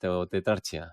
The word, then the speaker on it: tetrarchia: dentro de España es tetrarquia o tetrarchia tetrarchia en latín como se pronuncia en latín pues está basado en